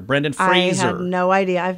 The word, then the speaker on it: Fraser: rhymes with razor Brendan Fraser it's not like that you know TV guy Frasier Crane it rhymes with razor Brendan Fraser I have no idea